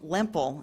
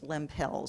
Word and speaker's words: Lempel: about blue Merlin pill by the way she pronounced her name Lempel in the old world but when she moved to the new world her children grew up as Limp Hills so we've been using